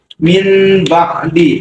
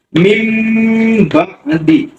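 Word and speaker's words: مِنْ بَعْدِ: Min ba'di. Nah, min ba'di itu tulisannya. Tapi pada saat dibaca, nun ini berganti menjadi huruf mim sukun. Mim ba'di. Mim ba'di. Nah, bacanya harus dengung.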